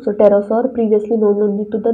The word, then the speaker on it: pterosaur: P in this is silent. So pterosaur, previously known only to the northern hemisphere.